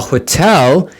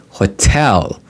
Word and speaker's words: hotel: flight successfully and a hotel in our price range now pay attention hotel hotel the second syllable takes the stress Hotel in our price